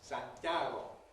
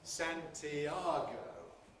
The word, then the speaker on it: Santiago: The Spanish city of Santiago in Spanish has three syllables. Santiago. In English, how many syllables does it have? Four. Santiago.